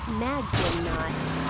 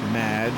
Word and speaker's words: Madge: You'll be the Mag did not. Welcome to the show. Thanks, Amy. However, you have mispronounced my name. It's Madge, which rhymes with badge, as in duh, and no as in more than you.